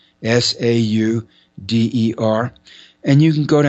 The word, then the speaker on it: Sauder: The last name is spelled Sauder. There's no N. Sauder.